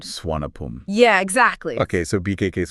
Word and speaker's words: Suvarnabhumi: But you're going to hear locals say Swanapum. Okay. Like they kind of drop that hard R sound. Swanapum.